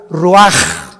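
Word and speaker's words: ruach: exhaló Isaac el Roach así como suena se pronuncia la c en hebreo como J ruaj se le só y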